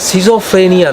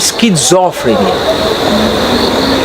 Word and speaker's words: স্কিজোফ্রেনিয়া: আমি না, আমার সেই মনে পড়লো সেই পুরনো আমলের কথা, সেটা বলছে আপনাকে, বলছে উচ্চারণটা না সিজোফ্রেনিয়া নয়, উচ্চারণটা হচ্ছে স্কিজোফ্রেনিয়া।